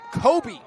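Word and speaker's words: Kobbe: Re uh Regan Kobe or Cobb, pardon me. His last name is spelled K O BB E. Kind of a tweener there. I'm assuming it's Cobb.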